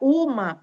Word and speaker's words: uma: Cuidado que a palavra uma não é monossílaba, porque eu falo uma. Tem 2 sílabas, tá?